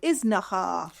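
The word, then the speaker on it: Iznájar: is called is now I want to know how you say it because there's an accent over the a so I think it's is no isn't the accent over the final a no it's over the first a oh well then it'll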